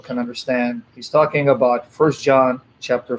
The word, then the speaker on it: 1 John: Is it like 1 John? Is that how you say it? We say the first epistle or the first letter of John, 1 John. So for short, we say 1 John, 2 John, 3 John, 1 Corinthians.